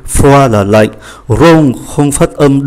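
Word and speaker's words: rond: Rong là tròn, cũng không phát âm.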